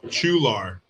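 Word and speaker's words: Chualar: And I think the company was in uh Chular. That's spelled ch H u a L A R.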